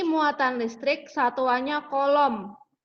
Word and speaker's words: coulomb: Q muatan listrik satuannya kolom. Kolom itu tulisannya coulomb, tapi membacanya kolom.